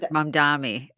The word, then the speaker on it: Mamdani: And but whereas Zoran Mamdani, I always say his name wrong. That's it. How do you say his Zoran name? Mamdani. Mamdani, yeah.